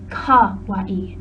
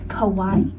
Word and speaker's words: kawaii: First of all, it's kawaii, not kawaii. Kawaii is an island, and it also means scary in Japanese, and frankly, that was scary.